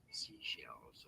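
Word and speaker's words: Seychelles: Say shells. Yeah, I think it's say shells. The name of these islands, how do you say it? Seashells.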